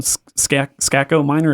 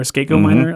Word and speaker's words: Skako Minor: It's from Skako Minor or Skako Minor. I think they actually pronounce it both ways.